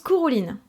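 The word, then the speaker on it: Cúchulainn: Et bien son nom se prononce Cuchulainn.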